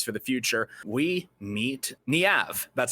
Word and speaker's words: Niamh: We meet Niamh. That's how you pronounce her name.